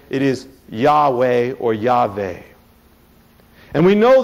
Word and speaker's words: Yahweh: they said it is yah yeh or yve and we know that the first syllable is definitely correct because throughout the Bible you see the word yah hallelu yah praise yah